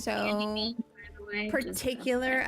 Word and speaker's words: Ganymede: Ganymede, not Gamamede.